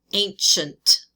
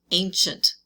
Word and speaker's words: ancient: Remember, it's got the SH sound. Ancient. Ancient.